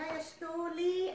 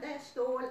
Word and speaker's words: diastole: So we have to, and also the diastole and systole. It's not diastole and systole, like we know from similar spelling of the last syllable.